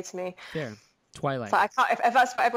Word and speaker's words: Twi'lek: I feel like I say Twi'lek, but it also that depends. Sounds a little bit like toilet in English, though.